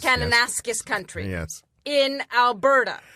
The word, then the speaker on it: Kananaskis: It's pronounced Kananaskis. Kananaskis country.